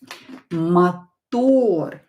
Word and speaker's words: мотор: This O is stressed, so we are not going to change it. We will leave it. We will pronounce it as O.